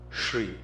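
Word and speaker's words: श्री: is mispronounced is shri it's a palatal sound shri then it is written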